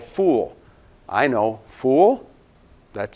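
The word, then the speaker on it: ful: You know, it's what you think would sound like fowl. It's actually not fowl, and you're no fool if you eat foul.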